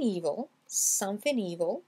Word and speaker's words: evil: Et ici, le E devient prononcé comme dans l'alphabet anglais.